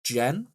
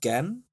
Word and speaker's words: Genn: four he's gone with i think it's pronounced jen or maybe genn g e double n uh liminal and